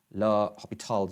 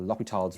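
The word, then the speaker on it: L'Hôpital: So in terms of limits, we have to use L'Hopital's rules, or L'Hopital's rules, as it's pronounced.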